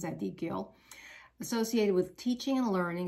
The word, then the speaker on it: Zadkiel: That's the way you pronounce Zadkiel.